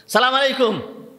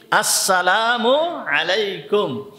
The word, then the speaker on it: আসসালামু আলাইকুম: সালামু আলাইকুম। সালাম দিছে কি? সালামু আলাইকুম। এইগুলো সুন্নাত অনুযায়ী সালাম হবে না। সালাম দিতে হবে। সালামটাকে ঠিক সুন্দরভাবে উচ্চারণ করতে হবে। উচ্চারণ কি? আসসালামু আলাইকুম।